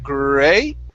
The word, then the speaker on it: great: word instead of and instead of scooping and coming up great okay it's great okay nice and even keep the tone smooth great great yeah there